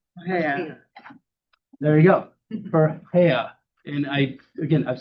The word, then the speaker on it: Farhiya: How do you pronounce your name? Farhiya.